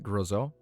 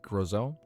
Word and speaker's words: Groselle: Groelle. Like Roselle, but just with a G. Groelle.